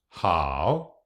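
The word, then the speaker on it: 好: Lưu ý rằng "h" trong bính âm được phát âm giống như jota trong tiếng Tây Ban Nha: "hǎo". Cách phát âm của "a" giống như trong "blah" hoặc "cha" hoặc "a" trong tiếng Pháp. Âm “A” dài hơn cách phát âm của âm “o”: hǎo.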